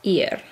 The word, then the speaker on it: ir: bit looks like her it's not pronounces are its ear verb ear so here is